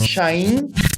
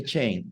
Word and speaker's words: Chain: Yeah, in Portuguese it's Shain, but you can say Chain if you want. I don't care. No problem. Everybody calls me Chain anyway.